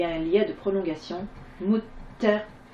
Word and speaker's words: للمتقين: Mutaqina. Arrivé à la fin d'une ayat, on ne prononce pas la dernière harakat.